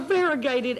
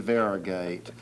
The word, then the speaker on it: variegated: or two syllable words well variegated as you know like you're yellow and you're green well you've got your banana and your sausage entertainment right great inner mix that's well that's three syllables but that's better than varigate you know and it